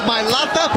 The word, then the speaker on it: Milata: host was talking about how do you say his name Cynthia it's mil Lata pay attention woman he